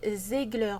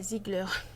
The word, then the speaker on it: Zegler: réaction et en fait son nom c'est Rachel zegler pas Zigler il y a pas de i donc c'est zegler je crois ENF pas quoi que peut-être ça se prononce Zigler mais bon on va